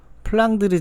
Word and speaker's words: 플랑드르: 유명한 3부작이 얻습니다 자 플란다스의개 지방은 플랑 드 주 의 영어식 발음 인데요 플랑드르 지역은 유럽의 역사에서 도